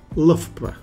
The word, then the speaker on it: Loughborough: looking at a word that is a true pronunciation puzzle that word is lpra before we get started don't forget to hit